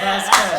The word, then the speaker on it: Vasquez: pronounced? Vasquez. Yeah, Vasquez.